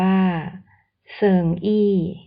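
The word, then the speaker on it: 生意: กับ การ ทำ ธุรกิจ คำ ว่า ธุรกิจ ใน ภาษา จีน อ่าน ว่า เสิงอี้ ประกอบ ด้วย ตัว อักษร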